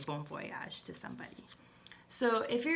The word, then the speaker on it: bon voyage: Turkish to say have a great trip it's bon voyage so marry the Marigold is French so she